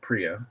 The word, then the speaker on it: Priya: I guess pardon me is it prio like Prius or Pria I want to make sure I get it right I think it's free yeah I think yeah I think the Indian pronunciation is Priya Priya she's really cute and